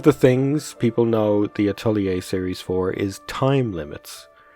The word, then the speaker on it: atelier: so I'm going to How would you go about pronouncing this in French originally? Atelier. Atelier. But in English or American, this would be said atelier. Atelier. Really? This word is pronounced as atelier.